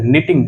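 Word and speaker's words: knitting: निटिंग देखिए के यहाँ पे साइलेंट है तो इसीलिए हम निटिंग ये स्पेलिंग पढ़ेंगे।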